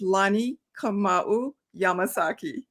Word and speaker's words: Lani Kamau Yamasaki: delighted i'm honored and corey my name is pronounced lani kamau yamasaki wow lonnie yamasaki it's i love it it's a great name